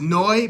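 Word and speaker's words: Neu!: to the band Neu it's pronounced noi but you'll see n e u with an exclamation point listen to their iconic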